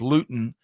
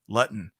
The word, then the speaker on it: Luton: like to tell folks my last name is Luton but it's been pronounced at least on the first day of school for my entire life Lutton right and that's always